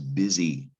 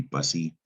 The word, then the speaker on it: busy: the root word is busy and that is a strange word busy it looks like it's pronounced bus maybe bussy has not nothing to